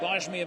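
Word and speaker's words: Gbaja: gabage mamila is and I don't think you pronounce the the B I think it's Akbar bajm amila B yeah Baja even though it's GB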